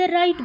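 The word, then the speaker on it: Wright: बाय द राइट brothers यहां पे W silent है।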